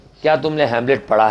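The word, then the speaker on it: Hamlet: अब एक ने बोला हेलमेट, हेलमेट नहीं, हैमलेट। ये प्ले का नाम है, ठीक है। ये शेक्सपियर के प्ले का नाम है ये। क्या तुमने हैमलेट पढ़ा है?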